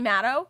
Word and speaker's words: Matto: your name how do you say it maddow meadows but then some people like sometimes say motto but it doesn't matter what they say it's